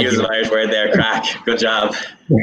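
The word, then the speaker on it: craic: So I can't use an Irish word there, crack. Good job. Which not many people know is spelt in a very Irish way. It's C-R-A-I-C for the record, even if it's pronounced entirely different.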